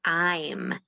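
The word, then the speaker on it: ऐं: eyes the power of the seed sound i'm it's spelled a i am enables us to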